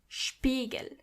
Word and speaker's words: Spiegel: When you see an S before a P, you have to automatically pronounce the S as sh, even if there is no C or H.